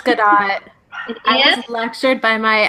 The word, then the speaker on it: Gadot: Gabby, how do I pronounce it? It's Gadot.